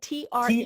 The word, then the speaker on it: Treu: And Treu is spelled T-R-E-U.